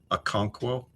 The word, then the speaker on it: Okonkwo: First K in Algonquo is pronounced as a hard C. Okonkwo?